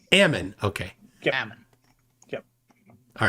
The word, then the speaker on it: Ammon: Is it Aman, or how do I say it right? Ammon.